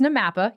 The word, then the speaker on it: NAMAPA: like 30 syllables but what the hell is namapa or is it Namath we did it we my favorite is what was it Nam paw yes so it it's namapa you're correct there and how do